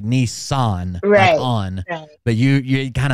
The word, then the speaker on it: Nissan: do you say Nissan no in Japanese the pronunciation would be Nisa okay so it kind of falls off like I'm putting an emphasis on the end of it like Nissan but you you it kind of falls off